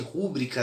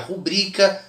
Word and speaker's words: rubrica: não tenha tanto contato, como é o caso de rúbrica, né, que na verdade a pronúncia seria rubrica, e as questões de